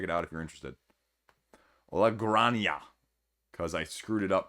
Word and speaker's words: La Granja: out if you're interested la grania because i screwed it up pronouncing it last week because it's spanish i should have known that j is pronounced differently so it's a deluxe